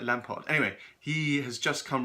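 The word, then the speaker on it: Lampaert: Yves Lampert, sorry. They pronounce it like Lampard.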